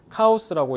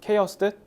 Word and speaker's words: chaos: What the randomness of chaos can provide 케os 우리 콩글리시 발음으로 카오스라고 얘기하는 케어스 혼돈 그래서 이런 혼돈의 의미성이